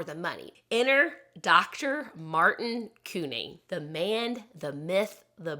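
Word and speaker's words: Couney: in a minute but everyone that has talked about him calls him Cooney so I may switch back and forth I'm sorry I'm trying I'm going to try to stick with one way of pronouncing it but I apologize if I say Cooney I mean the same thing as Kun so sorry deal with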